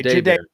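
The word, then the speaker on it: Jahdae: We just looked up the pronunciation on Baron. Jade Baron. Okay. Jade.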